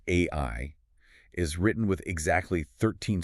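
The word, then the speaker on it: 愛: The sources point out that the Japanese kanji for love, which is pronounced AI, is written with exactly 13 strokes of the brush.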